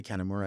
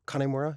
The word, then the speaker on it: Kanemura: Instagram at mkik808 I'm on Tick Tock at connemura and yeah those are like the two platforms that I use I'm pronouncing it wrong when I say catanura it's connemura kanemura yeah like Connie you didn't you you actually